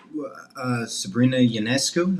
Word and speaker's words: Sabrina Ionescu: Well, I like Sabrina Ionescu.